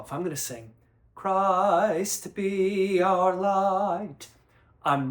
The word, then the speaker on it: Christ: And when we think of the word Christ, we have cra and we have iced.